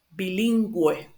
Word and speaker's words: bilingüe: So just put this, if you see these two little dots here in the U, it just means that you need to pronounce the U, like a normal U, like U.